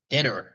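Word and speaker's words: Deidara: Deodara.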